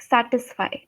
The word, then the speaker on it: satisfy: when you pronounced it you put a lot of stress on the sir which should not have happened okay uh you said